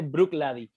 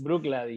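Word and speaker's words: Bruichladdich: bien rara, pero se dice Brooklady, Blue así, Clary, es Brooklady.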